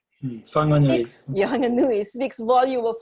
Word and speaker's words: Whanganui: For a country to grant the same human legal rights to the third largest river in the world Wanganui, did I say it right? Whanganui.